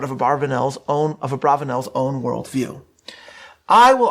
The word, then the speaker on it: Abravanel: i will be utilizing netanyahu's preferred pronunciation of the name abravanel rather than a barbanel i understand how people